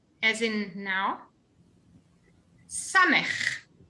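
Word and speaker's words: סמך: Samech. S, as in sun.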